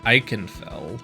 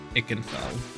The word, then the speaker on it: Ikenfell: I would have pronounced it Iikenfell, but according to to some of the song lyrics seems that it's uh Ikenfell.